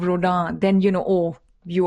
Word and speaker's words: Rodin: you know you know you said Rodin instead of Roda then you know oh